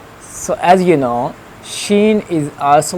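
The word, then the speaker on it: ش: Next one is shin. So as you know, shin is also like shin, like gym.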